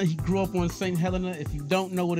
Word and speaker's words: St. Helena: He's from St. Helena.